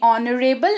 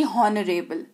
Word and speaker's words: honorable: HONORABLE, इसको पढ़ते हैं ऑनरेबल ना कि हॉनरेबल।